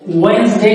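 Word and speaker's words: Wednesday: এখন আপনার মনে প্রশ্ন আসতে পারে এই ডি কোথায় গেল, ওয়েডনেসডে কিভাবে বসবে? এই ডি এন এই দুইটা হচ্ছে, এটা হচ্ছে প্লোসিভ সাউন্ড, এটা হচ্ছে ন্যাসাল সাউন্ড।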